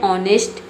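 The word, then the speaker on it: honest: इसलिए हम यहां पे बोलेंगे एन ऑनेस्ट मैन। ठीक है? एच की जो आवाज है ये नहीं आती है। मतलब एच साइलेंट रहता है।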